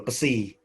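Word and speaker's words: ψ: Ini ya simbol pesi dari psikologi itu loh. Ya tapi tanya kan psikologi ya, jadi P-nya kan kayak voiceless ya, jadi ya namanya kayak C gitu ya.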